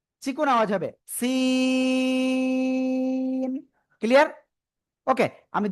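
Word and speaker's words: س: জিহ্বার আগা নিচে দুই দাঁতের পেট ও আগার সাথে লাগাবো, লাগে চিকুন আওয়াজে 4 আলিফ টানে উচ্চারণ করব। Scene scene.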